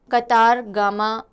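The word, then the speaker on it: Kataragama: सो श्रीलंका ने सेलिब्रेट किया annual कतारगामा एसला festival. कातरगामा या कातारगामा, जैसे भी आप इसको प्रोनाउंस करें।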